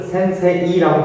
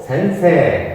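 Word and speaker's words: せんせい: 애단에 붙어 있는 이자도 장음이라 이것을 센세이라고 발음하지 않고 센세, 앞에 거를 길게 해서 센세 이렇게 발음한다는 것이죠.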